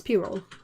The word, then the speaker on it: pyrrole: It sounds sort of like I see the P and the Y, and I'm like it's Y, so it's pie, you know. But no, it's pyrrole.